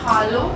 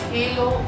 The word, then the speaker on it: Hallo: We use A in German and not E. So in German, the pronunciation of A is like A. So we have to say hallo and not hello or hello.